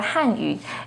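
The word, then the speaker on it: 汉语: embarrassment a quick example the pinging and tone for hanyu is with the fourth falling tone on han hanyu the ping and tone for hanyu has a second rising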